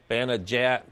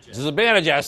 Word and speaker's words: Zibanejad: After New York tied it, Mika Bananajat. How do you say that, Bob? Zibanejad, thank you.